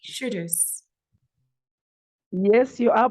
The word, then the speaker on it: Shudus: Shudus. Yes, you are pronouncing it correctly.